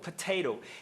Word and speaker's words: potato: E por que que ela pode pronunciar dessa forma? Porque o T está entre duas vogais. A primeira é o e, a segunda é o ou o e a sílaba átona é o ou. Tá em sílaba fraca.